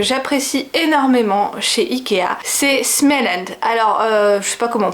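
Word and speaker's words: Småland: sais pas comment prononce moi je dis ce mélange parce qu'il y a un rond sur le a ou small lunch si je le devais le dire à l'anglaise c'est l'espèce de petite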